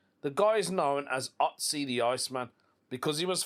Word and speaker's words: Ötzi: His name is Ötzi. I think that's how you pronounce it.